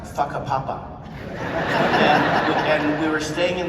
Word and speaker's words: Whakapapa: The thing about how you spell it, but it's pronounced Whakapapa.